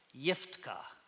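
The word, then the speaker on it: יפתח: In the Hebrew text, this is how you say it. I have to remember it. Yiftka.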